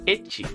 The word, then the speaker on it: ecchi: pronounce the letter H if you ask a Japanese person to pronounce the letter H they would say ity and the letter H